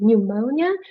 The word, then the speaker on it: pneumonia: this is pneumonia uh there's silent P sound so we we say pneumonia does anybody know it